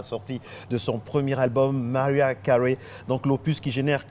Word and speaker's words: Mariah Carey: Oui, l'une des plus belles voix du monde qu'on célèbre aujourd'hui, qui fête 1 an de plus, c'est bien sûr, Mariah Carey, n'est-ce pas? La prononciation est bonne.